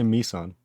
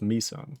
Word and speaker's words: Meson: is it mason nissan i always say nissan like a nissan car but it's meson it's not how it's spelled but it's just how